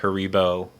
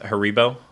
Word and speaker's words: Haribo: it how's it pronounced Haribo in yeah Haribo in English and then Harry tie your shoelaces her Rebel oh like mine sounds like the Spanish version yeah they are not